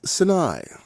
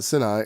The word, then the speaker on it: Sinai: what you know mount sinai i think i've said that about a thousand times i know that's not right it's sinai no it's not senai it's sinai no it's probably sinai or something like that let's